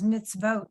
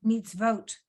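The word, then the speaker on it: מצוות: So it becomes mitzvot, meets vote. Right? Equals meets vote.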